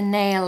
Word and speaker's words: nail: Make sure you pronounce the L on the end of nail because it will help you blend into the next word, which is on. So to hit the nail on, to hit the